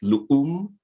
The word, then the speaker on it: LUUM: So LUUM, I think the correct pronunciation would be more like LUUM. Okay. It's a Mayan word from the northern part of Guatemala, and it means earth.